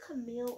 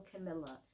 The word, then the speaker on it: Camilla: Is it Camille or Camilla? Because I'm going to make sure I'm saying it right. Yeah, it's Camilla.